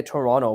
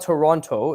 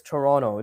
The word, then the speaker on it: Toronto: Toronto, by the way, in Canada we say Toronto. We don't pronounce the T. It's sort of like an unspoken rule. It's not Toronto, it's Toronto.